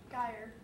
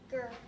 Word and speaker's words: Gyr: Is it pronounced ger or gyre? Ger.